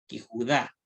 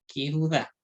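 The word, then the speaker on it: לִיהוּדָה: Y según esta regla, dice que delante de una palabra con Yud, Shva, la preposición lleva gírito, o sea, va a llevar ese puntito, ¿no es cierto? En este caso, la preposición que cambia la vocal de E a I. Ella se va a pronunciar Yehudá.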